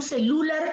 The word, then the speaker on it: celular: Es celular. Ahí se nota la pronunciación, celular. Se nota allí la presencia del acento en la sílaba lar.